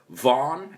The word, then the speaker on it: Vaughan: follow grupo bogan on Instagram it's grupo underscore Vaughn as we pronounce it and make sure you follow us